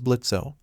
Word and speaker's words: Blitzo: My name is Blitzo, the O is silent, and I have a deal for you.